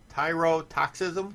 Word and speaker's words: tyrotoxism: okay go ahead this week's word is toxicism tyrotoxism yes it is spelled t-y-r-o-t-o-x-i-s-m tyrotoxism well oh wow I'm gonna